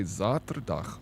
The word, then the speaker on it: zaterdag: You say it like Z, so spelled with a Z. The S is softer, like the word. Slang. Yeah, Sater. Zater. Yeah, I guess it, because you say Zaterdag, and we say Sater.